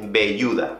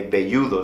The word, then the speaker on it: velludo: una persona bastante velluda oye pero si se escribe con un bebé porque lo pronuncias con ve bueno tengo que decir que aquí en españa sinceramente la gente no suele hacer mucha diferencia entre la b y la v aunque velludo se escriba con v aquí pues la verdad es que no nos preocupamos mucho de esa pronunciación bien has prestado atención